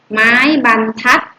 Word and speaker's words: บรรทัด: มาตรา แม่ กน ได้ ทัน ที เลย ไป ไม้ บรรทัด อ่าน ว่า ไม้ บรรทัด ไม้ บรรทัด อ่าน ว่า